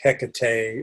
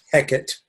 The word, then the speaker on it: Hecate: So that's because I remember researching it at the time because I thought that name was interesting, like Hecate or Hecate, depending on how you want to pronounce it.